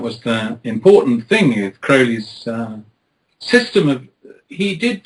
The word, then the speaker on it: Crowley: pronounce it yes it's Crowley as in holy gotcha what are your